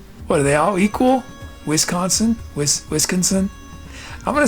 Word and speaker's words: Wisconsin: Is the emphasis on the whiz? Or is it on the sin?